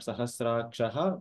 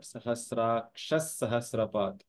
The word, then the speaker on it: सहस्राक्षः: So it is not Sahasrakshaha, but Sahasraksha Sahasrapat.